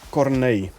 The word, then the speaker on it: Cornet: Officially, it's pronounced Cornet. When a Dutch person reads my name, he knows how to pronounce it. Foreigners, though, they tend to struggle.